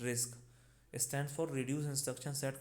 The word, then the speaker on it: RISC: RISC pronounced रिस्क stands for Reduced Instruction Set Computer.